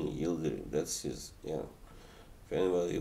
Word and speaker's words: Yildirim: alvarez versus avenging so yeah that's the correct pronunciation of that name yielding that's just yeah if anybody was wondering i